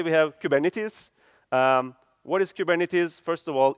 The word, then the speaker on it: Kubernetes: What is Kubernetes? First of all, it's a Greek word, as you can see from the Greek letters, that everyone mispronounces. Because the right way of saying Kubernetes is Kubernetes.